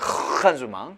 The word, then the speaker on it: engagement: engagement라고 하는 요 단어를 본인이 앙가주망이라고 제대로 발음하면 흥가주망, 흥가주망 이렇게 돼야 되죠.